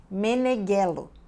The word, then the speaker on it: Meneguello: Oi Maria inez meneguelo esse nome se pronuncia assim meneguello é um nome italiano italiano o GH é como G em português nós escrevermos jeú eles escrevem com GH e enquanto a estrutura